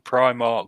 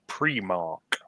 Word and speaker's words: Primark: And a shop in Glasgow put up its own sign saying the store is pronounced premark.